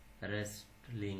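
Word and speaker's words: wrestling: যেমন ডাব্লিউ আর আই টি E, right, এখানে ডাব্লিউ এর পরে আর হওয়ার কারণে ডাব্লিউ এর উচ্চারণ হয়নি। রং মানে ভুল, হু মানে কে, রেসলিং মানে কুস্তি।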